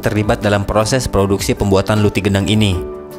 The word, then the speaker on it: Luti gendang: dalam proses produksi pembuatan Luti gendang ini sebenarnya nama asli kuliner ini adalah roti rendang namun dalam pelafalan orang-orang Melayu selalu menyebut huruf r dengan pelafalan yang samar sehingga lama-kelamaan menjadi Lucky gendang tepung yang memiliki inti